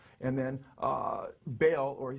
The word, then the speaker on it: Baal: And then Baal, or he says Bel, B-E-L, or Baal, he spells it B-A-A-L, how